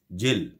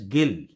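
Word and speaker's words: gill: word gi double l same spellings but the pronunciation is different so here is the pronunciation is jill sorry in the previous one the pronunciation is gil okay that is gil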